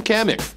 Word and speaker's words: Kamik: the company that makes its name rhymes with hammock go with the crab it's from kamik kids